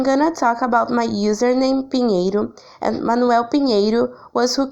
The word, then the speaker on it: Pinheiro: After Peter, we have Pinheiro. It's a Iberian username. In Spain, it's pronounced like peanut or pineiro.